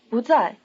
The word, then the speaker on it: 不在: Repeat 不在. Remember that the tone on 不 changes to rising before the falling tone of 在.